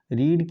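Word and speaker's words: read: Form एक जैसी है, लेकिन फर्स्ट फॉर्म को रीड पढ़ते हैं, सेकंड और थर्ड को रेड पढ़ते हैं, रेड।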